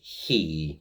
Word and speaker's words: chì: Now, I'm just going to correct myself briefly cuz I'm I I pronounced the he a bit too roughly. It's he almost like you're saying Hugh, the name Hugh.